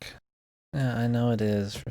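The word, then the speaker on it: Psync: The P is silent. Sync. Yeah, I know it is, for fuck's sake.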